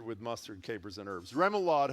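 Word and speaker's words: remoulade: say, I know on the whole list is Remalad. Salad or seafood dressing made with I didn't know this. Hard-boiled egg yolks, oil, and vinegar, and flavored with mustard, capers, and herbs. Remlad.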